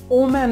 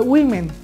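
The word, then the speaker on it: women: this video well তারপরে দেখুন এটা আমরা বলি ওম্যান বলি ওম্যান আসলে এম ই এন এটা তো মেন হবে আর এটা ও বলি ডাব্লিউ ও কিন্তু এই উচ্চারণটি হবে উই এই উচ্চারণটি কেমন হবে উই ঠিক আছে তাহলে উইমেন এটা হচ্ছে উইমেন তারপরে রয়েছে আমরা এটা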